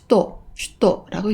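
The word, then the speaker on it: 首都: 수도를 슈도라고 읽습니다. 여기 동경도가 보이는데요. 도쿄도라고 읽습니다.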